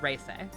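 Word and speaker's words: Reise: I said Reese and Arnor.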